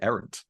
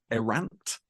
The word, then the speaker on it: errant: like three years um I didn't pronounce it errant everybody else does but just it's not a word you hear very often so I Mis would mispronounce it erant um so er irant